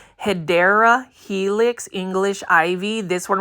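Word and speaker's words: Hedera helix: of different types of HRA helix or the correct way to say it guys if you want to be that person who wants to correct people it's actually hyera Helix English ivy this one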